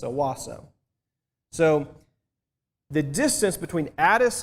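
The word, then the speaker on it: Hawassa: was at is called awasa H is silent it's Owasso so the distance between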